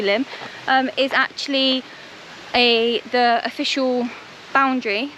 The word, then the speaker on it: Lim: This river, I don't know whether it's Lim or Lyme, it's spelled Lim, so it's different from Lyme, so I would say Lim, is actually the official boundary, like the border between Devon and Dorset.